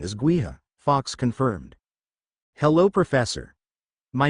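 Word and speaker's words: Gaoth: Yes, the pronunciation is Gua, Fox confirmed.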